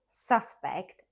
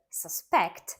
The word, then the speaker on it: suspect: suspect or suspect well as a noun suspect stressed on a first syllable is a person believed to have committed a crime for example the police have a suspect in the case a verb suspect stressed on the second syllable means to believe something